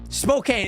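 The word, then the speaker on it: Spokane: know what I'm saying spok Kane exactly yeah yeah yeah people pronounce it like SPO SPO and then cane c a n e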